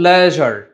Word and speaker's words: leisure: Number 2 হচ্ছে LEISURE, সো এটা কিন্তু লেজার না। ওকে, এটা হচ্ছে লেজার, লেজার, অর ইউ ক্যান সে লিজার, যেটাকে আমরা অবসর সময় বুঝাই, ঠিক আছে?